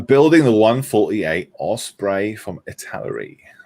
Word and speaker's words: Italeri: the brand name yeah how do you pronounce that italy it's a larry yeah yeah i've heard people saying um a towery um and it's a